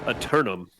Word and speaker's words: Eternum: back and watch the whole thing again yeah eternum is how you pronounce it yeah i turn them okay all